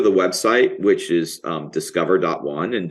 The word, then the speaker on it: DSCVR: website which is um discover. one and discover is spelled dscvr um.